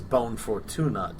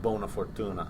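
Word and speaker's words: buona fortuna: makes the truce with jip and he says bone fortunate to him instead of bona fortuna yeah uh he pronounces it incorrectly being that of all things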